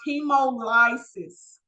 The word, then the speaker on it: hemolysis: This word is pronounced hemolysis.